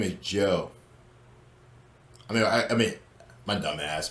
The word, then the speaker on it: Zhou: So his name is Joe. I mean, my dumb ass, but it's pronounced as Joe.